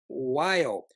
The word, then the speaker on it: WALE: Long whale. Whale. Whale is actually spelled without the H. So it's actually W A L E.